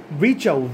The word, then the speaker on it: Virchow: Rudolph ভিচাউ, Rudolph RUDOLF ভিচাউ VIRCHOW, এই আটটা pronounce হবে না, ভিচাউ।